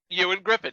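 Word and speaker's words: Ioan Gruffudd: just okay wait so that's how you pronounce his name the lead actor you and Griffin yes I had no idea I was like how the hell do you pronounce this name Ewan like you and McGregor yes I never knew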